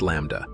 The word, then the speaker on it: Lambda: which is represented by the Greek letter l pronounced Lambda plug values for L